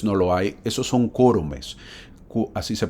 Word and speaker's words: quórumes: lo hay, esos son quórumes, así se pronuncia, ¿verdad? Quórum es cuando es singular y cuando es plural se dice quórumes, no quórums. No existe esa palabra, existe quórumes.